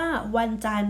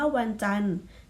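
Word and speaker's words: วันจันทร์: ไป มี คำ ว่า วัน จันทร์ อ่ะ นัก เรียน สังเกต คำ ว่า วัน จันทร์ จัน ทร เห็น ไหม จะ ไม่ ออก เสียง เพราะ ว่า ตัว การันต์ ทำ หน้า ที่ หยุด เสียง ดอน อาหาร กับ รอ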